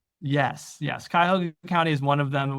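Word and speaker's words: Cuyahoga: offer to defendants in the how is it pronounced or the county you operate in? Kaya Hoga. Ka Hoga. Okay. Kaoga County in Ohio. Yes. Yes. Kyhoga County is one of them.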